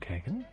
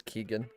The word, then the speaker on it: Keegan: refer like how what is my name pronounced it's Keegan yeah Keegan well how is